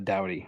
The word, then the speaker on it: Doughty: all of hockey and so to have him here at least everyone now knows how to pronounce my last name in la orange county just because our star defensive men for the past eight years ten years has been a dowdy so it's kind of